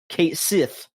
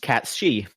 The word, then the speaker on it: Cait Sith: and it just says, in Final Fantasy VII Rebirth, it is pronounced Kate Sith. Sith. Is this a problem in Japan? No, because in Japan, on the official website, it says that it is pronounced Katshi.